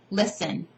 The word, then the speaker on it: listen: So for example, in the case of the word listen, T is not pronounced. It's a silent letter.